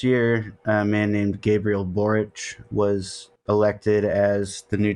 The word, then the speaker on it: Boric: So basically, at the end of last year, a man named Gabriel Boric was elected as the new Chilean president, basically the first leftist since fucking Allende.